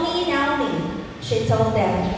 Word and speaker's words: Naomi: sa Hebrew di ay, ang pronunciation sa Naomi is Naomi, but it's very difficult for us sometimes. So Naomi is okay.